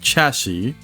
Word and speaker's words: chassis: you got It's pronounced chassis right because the the with the S at the end is is silent but then for plural